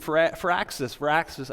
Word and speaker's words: Firaxis: Joining me is my old pal, Garth DeAngelis from Firaxis. I said that wrong. You said it right. Firaxis is right.